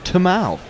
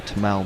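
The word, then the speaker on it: Tymal: uh diana pedentry alert tymel mills apparently pronounced his name as tamal tomorrow i know i i know only because he was once essex so tamal mills okay if we're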